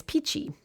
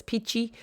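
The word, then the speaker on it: pici: we were in toscana is peachy p-i-c-i i don't know i just somehow the word the pronunciation is one of my favorite words peachy just and actually peachy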